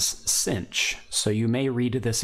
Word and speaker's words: sinh: For shorthand, especially in North America, you will hear this sometimes pronounced as sinh, so you may read this equation as y equals sinh of x instead of hyperbolic sine.